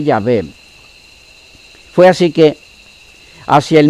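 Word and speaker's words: Yahweh: león décimo en 1518 las investigaciones modernas indican que la pronunciación original fue llave fue así que hacia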